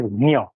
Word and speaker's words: ज्ञान: It is Gyan. In Hindi, Diya ho jata hai. In Sanskrit, it is Gnya. So, उसका spelling J ही होता है. It is not anglicization of Gyan. It is the original phonetically correct spelling of Gyan.